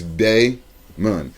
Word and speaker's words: Daimon: bro she put okay my name is spelled d-a-i-m-o-n and when you look at it it's like damien but now it's day moon now if it was